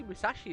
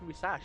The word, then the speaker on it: Musashi: I always say Musashi as well, but it's Musashi. They don't pronounce the I.